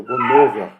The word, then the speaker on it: Bonhoeffer: A voz surda sempre me corrigia, Bonhoeffer, né, fazia eu pronunciar correto, né, e nessa descrição aí da biografia dele, tem um momento que ele se levanta contra Hitler.